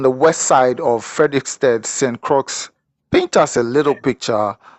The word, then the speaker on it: St. Croix: It's spelled with an X at the end, but just like my name is spelled different, but pronounced St. Croix, like what I mean, like your heart a cry, you know what I mean, like tears are run down your eye, St.